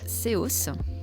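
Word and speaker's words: SEOS: nom de ce centre évidemment ce centre s'appelle COS ça s'écrit s e o s pour service d'écoute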